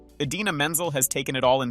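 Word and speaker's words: Idina Menzel: now Infamous name mixup the teleprompter said Adele deim he said using the phonetic spelling of Menzel's name as written on the teleprompter which threw him off and resulted in the memorable mispronunciation Adena menel has taken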